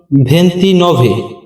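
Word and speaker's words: ventinove: ভেন্ত অত্য পরবর্তী শব্দ 29 29 এর ইতালিয়ান উচ্চারণ ভেন্তি নভে ভেন্তি নভে বা নভে এরপরে রয়েছে 30 30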